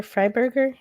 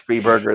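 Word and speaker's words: Freiberger: yeah fred free burger fried burger i think it's pronounced free burger you're probably right but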